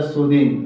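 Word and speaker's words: soothing: तो सु थिंग होगा लेकिन इसका उच्चारण होता है सुदंग द पढ़ना सु दिंग मतलब सुकून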